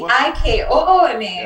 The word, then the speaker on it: Ikooma: And then I said, oh, in Creole, phonetically, that would be Ikooma.